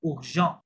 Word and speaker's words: urgent: আর্জেন্টকে ফরাসি স্টাইল উচ্চারণ করে দেখেন উর্জেন্ট, কি লেখা আছে এটা? urgent, উর্জেন্ট, urgent, উর্জেন্ট।